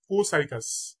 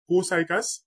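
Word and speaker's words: Copsychus: বৈজ্ঞানিক নাম হচ্ছে এখানে পি এর উচ্চারণটা সাইলেন্ট থাকবে এটা হবে কোসাইকাস কোসাইকাস পি এর উচ্চারণটা হবে না কোসাইকাস সেলারিস কোসাইকাস সেলারিস রয়েল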